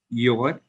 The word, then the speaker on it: you're: you will, you shall, you're, you are, you've, you have. Okay. So YOU apostrophe RE, can you pronounce it again? So Your. it's your, yeah, it's your. You pronounce it as your, so it's you are.